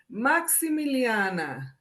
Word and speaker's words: Maximiliana: You have to pretend like you're Italian and you're in the kitchen cooking and say Maximiliana, and you got to get all 6 syllables out.